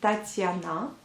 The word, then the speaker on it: Tatiana: exemple le prénom Tatiana, vous voyez bien que la lettre T s'adoucit aux deuxième lettre T. La première lettre elle est bien dure, donc ta, et la deuxième, donc sur la deuxième syllabe, vous voyez le signe mou, donc ti. C'est grâce à ce signe que le T devient ti, Tatiana.